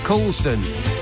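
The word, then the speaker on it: Colne: this hour Nick in Colon which is not really how it looks but colon is how it's said if a lord paid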